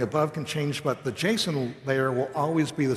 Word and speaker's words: JSON: I've been saying JSON, most people say JSON. It turns out the correct pronunciation is JSON.